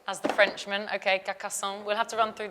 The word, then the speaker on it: Carcassonne: You can pronounce it. Carcassonne. Next one is Carcassonne. As the Frenchman, okay, Carcassonne.